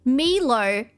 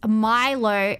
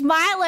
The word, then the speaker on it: Milo: And he was having an argument with a bunch of Australians, telling Australians that Milo is pronounced Milo because it's Asian. And everybody in chat was like, no, it's Milo.